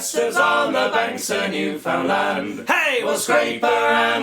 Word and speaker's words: Newfoundland: Newfoundland. The less actual syllables you can use, the better, as far as I understand. Newfoundland.